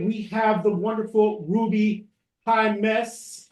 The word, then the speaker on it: Jaimes: I learned how to say that because she told me that when you are speaking to someone and you say hi, miss, that's how you get to know how to say her last name.